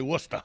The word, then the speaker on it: Worcester: oh it's worcester mass yeah no stuff yeah it's spelled worcester but they say worcester what's that yeah yeah because they don't know